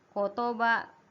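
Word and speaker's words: 言葉: Dibacanya iu. Yang kedua, ya ini spesial nih. Kotoba.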